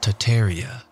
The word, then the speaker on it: Tartaria: be again the great tartarian Empire tartaria originally pronounced tataria without the first R is the name of